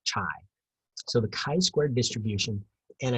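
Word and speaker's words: χ: So 13.1, it's called the chi-squared distribution, and it's pronounced chi, like K-I, not chi.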